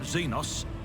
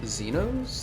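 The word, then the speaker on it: Xenos: could be mistaken but isn't this pronounced zenos that's how I normally hear it but from zenos I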